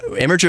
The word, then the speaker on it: Imgur: is just a troll he knows that it's pronounced gift but the imager is one of those great great websites go